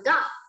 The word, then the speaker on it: got: Nhưng từ này mình sẽ không đọc là good, được chưa? Mình sẽ đọc là got.